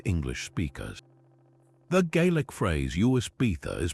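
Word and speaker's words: uisge beatha: The Gaelic phrase Uis Beatha is pronounced roughly as ishkbh. To an English ear, the first word, Uis, sounded like whiskey, and the second part was often dropped altogether.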